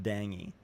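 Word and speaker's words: dengue: It's pron pronounced dangy.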